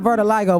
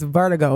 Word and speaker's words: vertigo: It is not vertiligo. We both sound dumb. Everybody, it is vertigo.